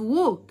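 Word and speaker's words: walk: طيب ووك اواي بقى اوفر يبتعد، خلي بالك ال ال سايلنت ما تنطقهاش في ووك.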